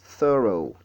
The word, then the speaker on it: thorough: Thorough, thorough, thorough. Et, alors, le mot-ci, il a deux syllabes. Nous avons the et ensuite row, thorough.